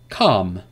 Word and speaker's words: calm: For example, for the rule is that L is not pronounced after the vowels A, O, and U. A, O, and U. There is no L sound after these vowels. Examples: calm, half, talk, walk, would,